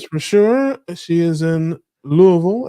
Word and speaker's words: Louisville: sure she is in Louisville as they say not Louisville like uh some people would say you gotta say it like you have something stuck in your throat like lble like that yes yeah